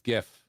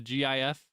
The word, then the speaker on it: GIF: The person that invented the GIF, the GIF, says it's like the peanut butter.